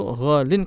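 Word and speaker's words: غالٍ: Jadi antum jangan bingung, itu ghalin kok tiba-tiba kasroh, padahal tidak ada huruf jar dan bukan juga mudhofun ilaih. Nah, itu sebenarnya aslinya ghaliyun, tapi karena orang Arab mungkin susah pengucapannya, maka disingkat menjadi ghalin.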